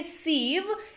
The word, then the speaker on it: sieve: सीव, spelling जरा ध्यान से देखेंगे, SIEVE, इसको पढ़ते हैं सीव।